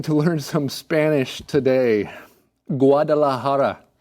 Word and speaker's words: Guadalajara: Guadalajara. Guadalajara. Guadalajara. So when you see that J in Spanish words, that has an H sound.